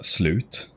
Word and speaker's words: slut: It's like uh the Swedish word for end is uh slute or basically which uh is pretty funny.